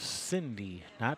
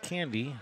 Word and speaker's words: Cindy: So at the table now we have Cindy, not Candy, even though someone wrote Candy on the paper.